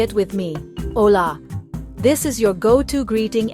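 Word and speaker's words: olá: Phrase number one, hola. That's hello in Portuguese. It sounds like olih with the stress on that second syllable. Listen closely. Ola. Now say it with me. Ola.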